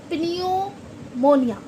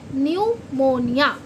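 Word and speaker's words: pneumonia: ओ एन आई ए इसे कोई अगर प्रोनाउंसिएशन करेगा फर्स्ट टाइम पे तो क्या बोलेगा पिन मोोनिया जबकि पी साइलेंट है निमोनिया यानी कि निमोनिया ये होती है निमोनिया पी साइलेंट है हमारा इसलिए क्यों क्योंकि पी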